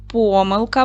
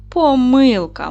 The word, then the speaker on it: помилка: Давайте поставимо наголос в цьому слові. Можна сказати помилка, правильно? А можна помилка.